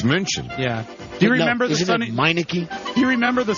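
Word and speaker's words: München: in Germany sir um Munich EXC and how do you how do you say Munich in German Muni wrong it's munion yeah do you remember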